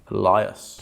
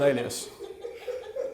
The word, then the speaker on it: alias: Elias. Yeah, I've never used that word before in my life. Pretty sure it's alias. You say alias, I say Elias.